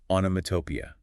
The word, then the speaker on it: onomatopoeia: This 5-syllable word is daunting, I'll admit. The rule of thumb is to break it down and stress the 4th syllable.